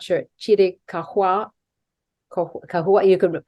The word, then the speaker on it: Chiricahua: I understand it was once a sacred area for the, I'm not sure, Chiricahua, you could pronounce it correctly for me, Apaches.